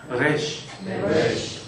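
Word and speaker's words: ריש: 이 영어처럼 이렇게 혀를 말아서는 안 하시면 좋을 것 같아요. 이쪽 이쪽은 혀를 말아서내는 소리 레쉬가 아니고요. 레쉬레쉬 우리 그냥 리얼 흘러가는 발음을 생각하고 가셔 레쉬네 레쉬 레쉬 그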